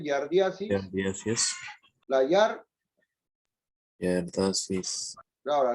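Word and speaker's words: giardiasis: La Yar, pronuncia, a ver, yardiasis.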